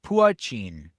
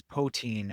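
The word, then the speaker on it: poitín: Gucci pronounced puin. Pin. Okay. Anglicized as poin or pchin meaning pot indicating the small pot that's used to make it.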